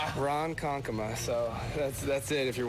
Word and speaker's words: Ronkonkoma: night and Bill got it right yeah it's Ronkonkoma Ronkonkoma so that's it if you're wondering Ronkonkoma okay